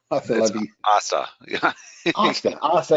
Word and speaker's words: hasta: Hasta. That's right. Don't pronounce the H.